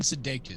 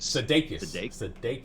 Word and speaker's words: Sudeikis: Jason Sudeikis. Sudeikis. Sudeikis.